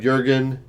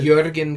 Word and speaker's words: Jürgen: I've heard Jürgen, I've heard Wrede, I've heard I think Wrede. it's Jürgen because of the... Probably. The accents, umlaut, yeah.